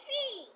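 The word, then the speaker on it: 七: এই উচ্চারণটা তোমাদের দুজন করে আমি দেখতেছি দুজনের উচ্চারণটা চি চি চি চি করতেছো চি চি চি না এটা হবে হবে C হ্যাঁ C ওকে এবার হয়েছে এবার হয়েছে সি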